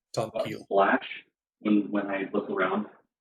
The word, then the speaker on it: Tomkiil: So the I is pronounced E. Mm-hmm. Tom Keel.